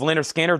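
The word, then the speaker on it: Lynyrd Skynyrd: Also in here, uh, speaking of Leonard Skard, Artemis Pile, uh, honoring the music of Linder Skinner.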